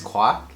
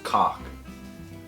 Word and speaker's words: Quoc: So my middle name is Quoc, Quoc, but my husband insists on pronouncing it as cock. Well, in French, Q-U-O-K would be cock. So that's how I pronounce it.